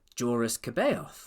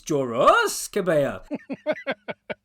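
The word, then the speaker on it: Joruus C'baoth: mean, like this is Jedi Master Joris Caboth, right? Or however you meant to say it. And Thrawn says, "Aha, no, you you may have noticed the subtle pronunciation difference. It's Joros Cabo."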